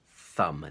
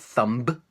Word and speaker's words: thumb: in the letters m b mb for example thumb this is called a thumb and it's spelt th um B but the beat is silent thumb not thumb it's thumb and there's a few words which